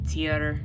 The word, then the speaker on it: Tyr: There's a lot of different pronunciations of his name. It can be Tyr, Tyr, T, Tia. It's so it's so weird how many times I've heard different types of his name being pronounced, but I've always just pronounced him Tyr. Okay, it's just easier, and